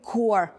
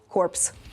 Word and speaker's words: corps: core core от питання Чому оці PS не вимовляютьсяe не ну насправді Зрозуміло Тому що це слово тому що це слово французького походження і там половину літер просто можете Ну типу ігнорувати ось Тому infantry -